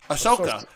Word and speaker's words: Ahsoka: question for you was ashoka is that that's how we say her name ashoka was her character uh